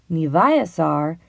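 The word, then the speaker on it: niviaq: live on planet Earth nasar is how you say girl in the intitute language the word sounds like ni VI AAR Susan aglukark is a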